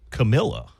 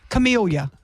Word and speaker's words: Camellia: Is it Camellia or Camilla? Camellia. Okay. I believe, yeah, camellia.